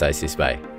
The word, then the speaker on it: ICSPI: And by the way, it's pronounced ICSPI.